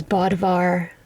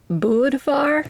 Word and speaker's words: Bödvar: wave and that is Bodvar the bear. Actually, I think his name is pronounced more like Budvar because it's spelled with an umlaut. But for my North American lips, Bodvar is easier and more